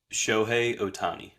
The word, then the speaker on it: Shohei Ohtani: How do you pronounce his name? Shohei Ohtani.